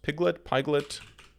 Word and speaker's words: Pyglet: you need to also install, how is this pronounced? Pyglet, P-Y-G-L-E-T.